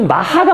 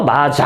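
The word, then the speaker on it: maja: 입은 이제 마 이게 여기는 마야라 돼 있는데이 발음이 마하가 맞습니다 마하 스페인어 발음이 그죠 마자 아니라 마하 마야도 아니고 마하 근데 근데이 마라는게 특별한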